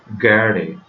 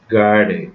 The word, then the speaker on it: gerade: Actually, it is a German word. R is silent here, so we have to read it like gerade, gerade.